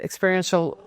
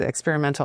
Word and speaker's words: experiential: So the Center for ELD, we call it Experiential Leadership Development. Some people say they don't know how to say it, experimental, and that's experiential.